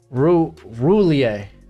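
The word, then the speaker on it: Roullier: I think it's like Rue. Yo. Maybe not. Here we go. Roulier. Got it. Roulier.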